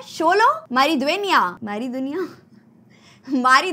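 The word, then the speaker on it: Xolo: बहुत डिफिकल्ट है क्योंकि लगा था की उसको प्रणाम करते होंगे जोलो मैरिज है ना लेकिन ऐसा नहीं है उसको प्रोनाउंस करते हैं शोलो हमारी ड्वेनिया हमारी दुनिया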